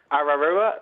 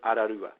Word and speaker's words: Ararua: Classic ones, I think, have to be ones like Paraparaumu, which is Paraparaumu, Ngaio, Ngaio, Ararua, which is Ararua.